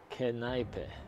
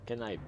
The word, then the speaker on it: Kneipe: It's pronounced like Kneipe. Kneipe.